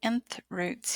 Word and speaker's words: nth root: we're looking at nth roots here the nth root that's how it's pronounced looks like this the N that's there